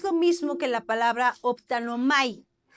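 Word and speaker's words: ὀπτάνομαι: Que no es lo mismo que la palabra optanomai. ¿A qué te suena optanomai? A optometrista, ¿verdad?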